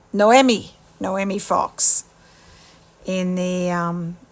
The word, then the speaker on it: Noemi: Jess and Nai no not naami um how do you say her name um not naami it's um Noemi noomi fox in the